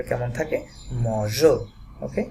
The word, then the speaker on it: mangeons: থাকতো তাহলে এই নুর সাথে যেই কনজুগেশনটা, এটার উচ্চারণটা হতো নু মগো। সো এই মগো যাতে না হয় সেই জন্য এখানে একটা ই অ্যাড করা হয়, যাতে এটার উচ্চারণটা কেমন থাকে? মজো।